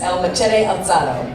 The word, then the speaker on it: El Machete Alzado: When he was there, his first film project became it was a film called The Raised Machete, and you say it like this, El Machete Alzado, which is a beautiful